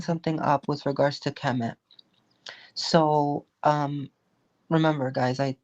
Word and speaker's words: Kemet: So, is it K E M I T? K E M E T. Oh, Kemet. Okay.